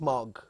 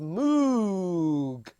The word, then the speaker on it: Moog: that up sure but mark said it was pronounced mug though his name should be pronounced Moog now you see the